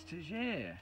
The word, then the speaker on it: Tegere: Oh, it's Tegere.